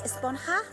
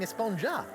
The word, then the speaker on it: Esponja: huh actually it's pronounced espanha with an h sound at the end really but we've all been saying esponja yes i know it's